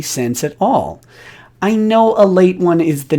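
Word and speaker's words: Ale-8-One: for pointing that out it's pronounced a late one it's written as ale 81 uh in case you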